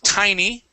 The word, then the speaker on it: tiny: This one is tiny with a long I.